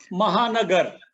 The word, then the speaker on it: Mahanagar: Pronounce it for me, Shekhar. Mahanagar.